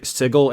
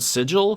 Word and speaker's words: Sigil: the setting book s sigle in the outlands I said sigle because uh previously it was specified that's it's not pronounced like the word sigil which is how it's spelled but I didn't see